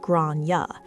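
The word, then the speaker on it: Gráinne: She asked what I meant, and I said, calmly, politely, "Well, in Ireland, it's usually pronounced something like Grania."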